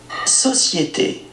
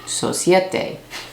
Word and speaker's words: Société: Let's listen one more time to what my guy says. Ready? Société. Société. Société. Société. Société. This is what I do. Société. Okay. That's how I figure out how to pronounce things.